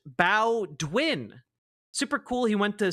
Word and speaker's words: Bowdoin: Bowdoin is pronounced Bowdwin.